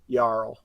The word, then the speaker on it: jarl: though she is correct properly pronounced yarl so you think you